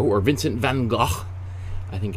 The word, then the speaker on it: Vincent van Gogh: is all dedicated to vincent van gogh or vincent van gaal i think as it's more correctly pronounced in the original dutch um but uh we